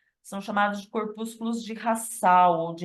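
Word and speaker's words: Russell: chamadas de corpúsculos de rassal ou de ricel né não sei bem como é que pronuncia eu aprendi a pronunciar rassal tá raç né então o corpúsculo de raç ele é um derivado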